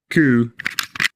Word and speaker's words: coup: Don't say the P in receipt, cupboard, raspberry, coup. Words starting PS like psycho or words starting PN like pneumatic.